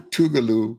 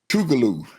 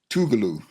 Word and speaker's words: Tougaloo: He was the the head speaker at the commencement for Tougaloo University right outside of Jackson to speak to the graduates. Is it Tubaloo or Tubalo? Tougaloo.